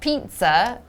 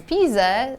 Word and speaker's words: Pisa: It's not pizza, but it's Pisa.